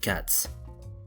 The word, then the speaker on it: Q4TS: At this point I should introduce the cats plugin Q4TS. We pronounce it cats.